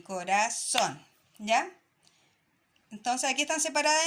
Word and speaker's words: corazón: Estas dos palabras son agudas. ¿Por qué? Porque se marcan en la última sílaba, ¿ya?